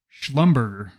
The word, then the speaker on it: Schlumberger: Schlumberger and Schlumberger and I said that incorrectly Schlumberger that is how you say Schlumberger at Maverick we don't